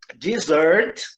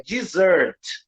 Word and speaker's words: dessert: Observe que o primeiro, a sílaba tônica é a segunda, é dessert. Dessert. E tem 2 S's. E a segunda palavra é desert, tá? Com um S só, e a sílaba tônica é a primeira.